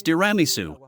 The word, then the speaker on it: tiramisu: The correct Italian pronunciation is tiramisu.